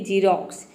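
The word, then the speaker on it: Xerox: तो देखिए जब वर्ड के शुरू में एक्स आता है तो वहाँ पे एक्स को हम ज प्रोनाउंस करते हैं, जैसे कि जीरोक्स। यहाँ पे देखिए एक्स शुरू में आया है तो एक्स का ज हो जाएगा, आई का हो जाएगा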